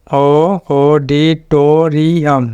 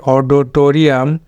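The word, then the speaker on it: auditorium: syllable word এটা তো এখানে অডিটোরিয়াম আমরা বলি অডোটোরিয়াম তো অডো হবে না অডি হবে অডি অডিটোরিয়াম অডিটোরিয়াম এরপরেরটা হলো এটা কিন্তু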